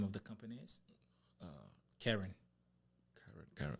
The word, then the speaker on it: Kering: Kering. Kering. Spell it, let me say.